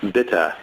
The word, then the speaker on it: bitte: end of it no bitte it's like Susannah and E in the end is always this sound okay Andy in the end of any words in German bitte and that's that's